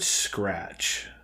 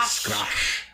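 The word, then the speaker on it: scracche: It's probably pronounced like scratch.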